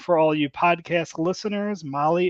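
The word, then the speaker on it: Mahle: all you podcast listeners Molly is spelled m ahle e all right I know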